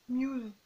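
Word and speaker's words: μ's: Et elle dit un truc comme ça, ça se prononce Muse.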